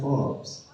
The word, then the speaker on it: Forbes: muda kata majalah Fals tulisannya Forbes bacanya Force kata majalah Forbes lah